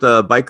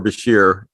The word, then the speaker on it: bichir: So I'll go with biker or Bichir, depending on which country I'm in. No, that sounds good. It's the Bircher one that's weird, because I always think, where do they get the extra R from?